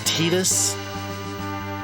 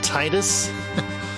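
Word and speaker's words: Tidus: as Waka and the main guy int is tetus but I used to call him Titus because TI D us it it just my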